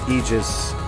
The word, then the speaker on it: Aegis: welcome to 13 senators aegis regime it might be aegis that word can be pronounced either way in the english language and you can get away with it pretty regularly um i'm not promising